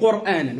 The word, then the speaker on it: قرآن: أكه أنزلناه قو واضح الراء في كلمة قرآن شو حكمها الراء علاش سبقت بضم نعم شو قرآن قر مش قر شو الفرق ما بين قر وقر الصوت يبقى الداخل واضح